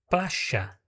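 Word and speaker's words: playa: Então, na palavra pláia, que é praia, você vai escutar também placha, também com essa influência do cheísmo.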